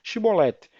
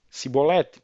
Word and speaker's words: chibolete: não então lhe diziam dizem pois chibolete porém ele dizia cebolete porque não conseguia pronunciar bem então pegava nele de